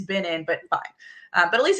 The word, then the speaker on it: Binin: and now everyone says Benny and I'm like it's not Benny it's B in but fine but at